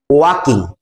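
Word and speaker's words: walk: মানে হাঁটা তাহলে ওয়ান ডে একদিন হিড বিন ওয়াকিং সে হাঁটছিল ঠিক আছে বিহাইন্ড বলতো বিহাইন্ড মানে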